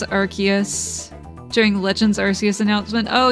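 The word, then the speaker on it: Arceus: monkey to be fair the name is a combination of Arc and DS ah okay Nintendo pronounces it as archus during Legends arus announcement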